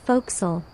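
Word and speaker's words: fo'c'sle: Your home, the folks, pronounced folks, is a cramped, smoky cave at the front of the ship.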